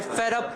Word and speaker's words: fed up: Okay, that becomes a flap. Fed up. D becomes a flap, right? Because it comes between 2 vowels.